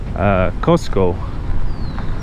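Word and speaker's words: Qosqo: the Quechua people and when the Spaniards came over they mispronounced a lot of Quechua words Cusco being one of them it was actually initially costco which means center because cuzco was kind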